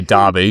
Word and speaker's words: Derby: And so how did that first intro into the Derby University student radio station come about? Was it someone approached you? And I should say Derby, because I know it's Derby.